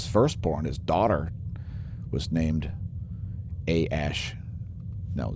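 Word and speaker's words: Æ: the baby's name x-a-12 which is that a e thing that's that's pronounced ash i'm told i think they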